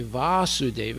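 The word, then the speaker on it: Vāsudeva: a short aid and when we say Vasudeva it means Krishna his son with a long a o Lord o my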